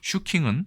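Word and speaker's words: 集金: 쓰고 있는 것으로 보아서는 집금의 일본어 발음인 슈킹에서 왔을 가능성이 매우 크다. 그리고 실제로 우리나라 국어 사전에도 집금이라는 말이 들어있다. 물론 슈킹은 우리나라 사전에 없습니다.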